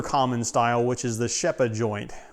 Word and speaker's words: Rzepa: style, which is the Shepa joint, which is spelled Rzepa, but I think the correct Polish pronunciation, if the internet is correct, is Shepa joint.